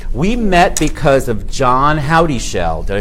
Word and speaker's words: Howdyshell: We met because of John Howdyshell.